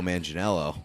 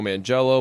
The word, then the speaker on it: Manganiello: way do you know that's not how you say his name we've been so we've said his name wrong a lot of times like on purpose we called him like Joe man jello ball it's Joe mingi Maggie you know yeah it's